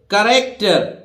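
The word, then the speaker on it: character: य जैसे साइंस है ना साइंस सी का उच्चारण नहीं होता है देखिए साइंस सी उच्चारित नहीं हो रही है इसी तरह देखिए करेक्टर सी एच बोल रहा है यहां देखिए सी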